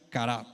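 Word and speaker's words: χαρά: La palabra griega para gozo es chara, que se pronuncia carab y significa alegría, júbilo o la fuerte de la alegría.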